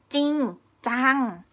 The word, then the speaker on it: จริงจัง: Okay, the first one, for example, จริงจัง จริงจัง.